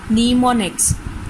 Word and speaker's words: mnemonics: The commands are represented in assembly language by short names called mnemonics, pronounced as mnemonics.